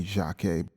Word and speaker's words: Jacquet: This is Illinois' Jacquet, as I hear Stanley Turrentine pronounce the name of his inspiration, but, it could be Jacquet.